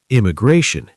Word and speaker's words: immigration: Immigration. Imigration. Four syllables. Stress on the third.